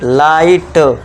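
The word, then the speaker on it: light: अब देखिए जी एच मैंने बोला था आपको साइन रखना है तो बस जी इसको साइन कर दो। भूल जाओ बस टी के लिए ट कर दो। तो ये क्या हो गया? बन गया कंप्लीट लाइट। इस तरह से क्या पढ़ेंगे? फाइट। तो इसमें जो जी एच है ये ऑलवेज साइलेंट रहेगा।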